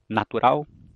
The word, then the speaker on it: natural: Então eu digo natural. Eu digo parede. Eu digo lâmpada. Nenhum falante da língua vai dizer natural, ou parede, ou lâmpada.